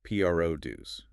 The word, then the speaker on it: produce: If you make something, you pro do you see it. The stress is at the end. But in the grocery store, we only want pro dues. That is a great tip. Stress the beginning. Pro dues.